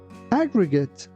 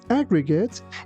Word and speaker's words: aggregate: When something is aggregate, it is made up of smaller amounts added together. The company totaled its aggregate sales for the entire year. Yeah. Be careful not to say aggregate. It's aggregate.